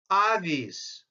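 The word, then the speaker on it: Aves: believe is Latin pronunciation in Latin this would be read as Avis Avis sounds Pleasant enough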